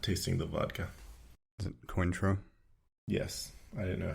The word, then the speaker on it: Cointreau: Is it Cointreau? Yes, I didn't know how to pronounce it.